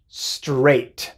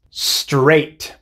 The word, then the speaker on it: straight: variantes la palabra es straight entonces puedes ver que a ig h se pronuncia ella nada más straight straight esta es la